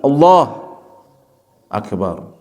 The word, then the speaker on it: Allahu Akbar: Di antaranya seseorang membacanya secara langsung Allahu Akbar tidak memutusnya. Memutusnya gimana? Allahu Akbar. Nah, kalau demikian, Allah Akbar tidak bermakna Allah Maha Besar. Seolah-olah dua kalimat yang berbeda.